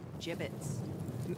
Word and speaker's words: Jibbitz: a he had some gibbets left over jibbitz what it's pronounced jibbitz are you sure yeah